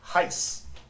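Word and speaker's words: εἷς: Hice, H-I-C-E is the pronunciation.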